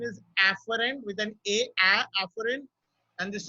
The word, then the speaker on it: afferent: But remember that this pronunciation is afferent with an afferent, and this is efferent.